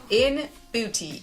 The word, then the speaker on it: ENBUTY: working with today is in beauty e-n-b-u-t-y i had to spell it out because i want to make sure that i'm saying it right look at this beautiful